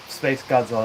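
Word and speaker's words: SpaceGodzilla: So it's Space Godzilla, right? Yep, Space Godzilla. That's how you say it.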